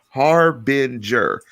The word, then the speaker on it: harbinger: to start the show harbinger i wrote it out h-a-r-dash b-e-n dash g-e-r i wrote b-e-n so i could save ben harbinger harbinger of things